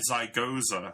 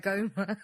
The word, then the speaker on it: zygoma: My zygosa. Oh, how do you say it? Zygoma. My zygoma is flaring up.